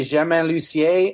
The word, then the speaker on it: Germain Lucier: can't help but wonder why you don't use the French pronunciation of your name. Well, it has a lot to do with How to Train Your Dragon. It is literally that my name is really Germain Lucier, and nobody would ever be able to pronounce that right.